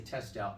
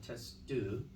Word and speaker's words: Testout: the stories was Madame, we say Testout, but it's Madame Testu. I think that's how you say it in French.